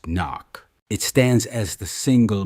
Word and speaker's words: NOC: They offer you a definitive transfer after 3 years of compromise into non-official cover, NOC, pronounced NOC.